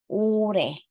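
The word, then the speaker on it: 올해: this year naman ay ure ul he ul he pag isa-isahin natin ul he pero kapagka pronounce natin yung dalaw syllables na magkadikit ure ure yan so last year naman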